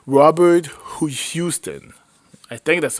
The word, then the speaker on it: Houston: It was directed by Huston. Robert Huston. Oh my god, I'm messing up the name. Robert Houston.